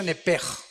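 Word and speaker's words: נֶפֶשׁ: Apúntala como suena nepesh con sh se pronuncia nepej.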